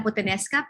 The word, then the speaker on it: puttanesca: Um, Basically, spaghetti alla puttanesca, pronounced as puttanesca, is Italian dish.